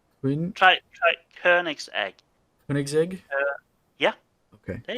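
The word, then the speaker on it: Koenigsegg: person or however the you pronounce this keg coin huh K try try K's egg K's egg yeah okay there you go K always pronounce it coin coig but that that's that's not even close so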